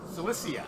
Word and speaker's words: Cilicia: So Paul is the author of 13 New Testament epistles, was born as an Israelite in Tarsus of Cilicia. Cilicia, there you go, that's how you say it.